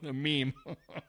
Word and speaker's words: meme: the old Boomers that don't know what a Mimi is meme they pronounce it Mimi waste of time don't